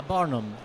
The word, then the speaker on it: Barnum: n u m okay ah baram like barnham from uh the greatest showman okay okay